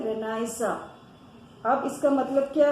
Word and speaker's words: Renaissance: हम बार बार जो word use कर रहे हैं बच्चों, Renaissance. वापस से सुनो, Renaissance. इसकी स्पेलिंग भी चेक करो, RENISSANCE. ये एक फ्रेंच वर्ड है, इसलिए हम इसको प्रोनाउंस कर रहे हैं Renaissance.